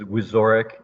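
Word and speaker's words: Wiczorek: Last name is Wizorek. The C is silent, if that helps anybody.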